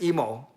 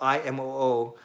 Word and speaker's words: Imoo: about how to pronounce my last name properly it is indeed emo it's actually imo because in japanese you pronounce every syllable so it's actually imo but i don't say that i just say emo when will levy